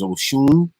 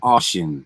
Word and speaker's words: Oshun: towards oliphan's distant home the way to pronounce that is oshun she said ocean so if you're familiar